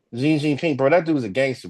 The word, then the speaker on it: Xi Jinping: Xi Jinping. Xi Jinping, bro.